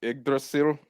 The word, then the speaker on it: Yggdrasil: becoming the world tree, Yggdrasil.